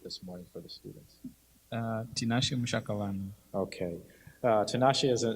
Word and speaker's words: Tinashe: Okay, Tanashi, I always butcher your name. Can you say it for me? Because I think I butchered it this morning for the students. Tinashe Mshakalano.